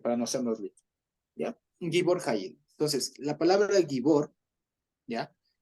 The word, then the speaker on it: Gibor Hayil: O sea, es Gibor Hayil. Así se pronuncia para no hacernos lío, ¿ya? Gibor Hayil.